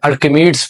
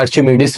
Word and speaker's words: Archimedes: तो स्टूडेंट्स, पहला टॉपिक है आपके पास अपथ्रस्ट एंड आर्किमिडीज प्रिंसिपल या आर्चिमिडीज प्रिंसिपल, दोनों प्रोनाउंसिएशन इसकी होती है।